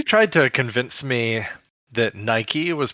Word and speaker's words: Nike: I mean, that word, looking at it, would probably be pronounced Nike. Like, Mike, bike, etc. Like, yeah, exactly. Right. But it is a name of a brand, and that brand name is pronounced Nike. So it is therefore absolutely 1000% pronounced Nike.